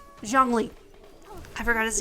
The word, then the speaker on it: Zhongli: Zhongli.